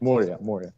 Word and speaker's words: Moria: How do you pronounce that? Moria.